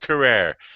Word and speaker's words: Carrere: It rhymes with terror. Terror. That's how he liked his last name pronounced.